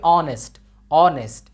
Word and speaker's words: honest: অনেস্ট ম্যান, এখানে অনেস্টের এখানে কিন্তু এইচটা কিন্তু সাইলেন্ট, এইচ যদি সাইলেন্ট হয় উচ্চারণ না হয় তাহলে কিন্তু এর পূর্বে এন বসবে। এই যে HONEST, এটার উচ্চারণ কী হবে? অনেস্ট, অনেস্ট।